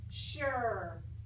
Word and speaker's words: sure: you would think would be pronounced with the s and that UE and an R but it's not it's an SH Shh so it's not with an S it's with in chef H sure okay now we will